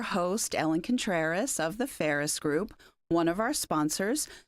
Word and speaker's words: Pharus: I'm your host, Ellen Contreras of the Ferris Group, one of our sponsors.